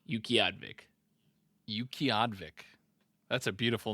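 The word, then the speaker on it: Utqiaġvik: right there i a g v i k Yuki advic Yuki advic that's a beautiful name that's the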